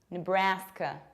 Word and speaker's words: Nebraska: Another one is this one, and it's Nebraska, Nebraska. You don't pronounce ne, you say n. Bra-ska. Bra is very open, k is very reduced. Nebraska. Nebraska. It rhymes with Alaska.